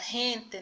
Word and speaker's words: gente: é e de ir então a palavra hente nela a rede as pessoas lá gente já é diferente da pronúncia de gato o gato essa pronúncia